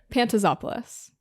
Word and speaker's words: Pantazopoulos: Is that Pantazopoulos? That was great. That was perfect pronunciation. Yes, let's go. You say it. Pantazopoulos.